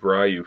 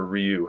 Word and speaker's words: Ryu: do the whole series of rayu figures or Ryu however you want to pronounce it I grew up saying rayu so that's what I'm going to call him I don't need a whole bunch of people yelling at me saying that's not how you pronounce it I know it's probably not right but that's the way